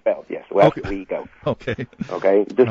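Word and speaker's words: Westwego: wo Louisiana if I pronounced that correctly corly pronounced West Wego wo yes West weo okay okay just like just like everybody did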